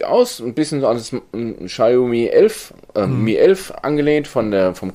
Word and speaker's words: Xiaomi: die sich beschwert hat über unsere Aussprache von Xiaomi. Dieses Xiaomi ist ganz offiziell von Xiaomi selbst ins Leben gerufen worden für Europa und Deutschland. Weil sie sagen, dieses Xiaomi, wie es in China wirklich ausgesprochen wird, kann keiner.